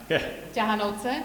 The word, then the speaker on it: Ťahanovce: You pronounce it. Ťahanovce.